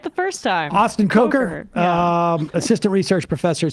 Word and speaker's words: Kocher: I pronounced it that way because I messed Emma Sam told me up. that it was Kocher, but I it's actually second guessed Kocher.